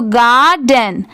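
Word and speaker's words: garden: तो देखिए GAR, इतना क्या होता है? गार। और DEN को क्या पढ़ते हैं? डेन। क्या पढ़ते हैं? डेन। दोनों मिला देंगे तो गार्डन, गार्डन। ठीक है, इसका प्रोनाउंसिएशन है गार्डन।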